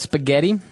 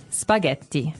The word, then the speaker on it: spaghetti: And what about spaghetti? Spaghetti. Spaghetti. Oh, you pronounce the double T as well.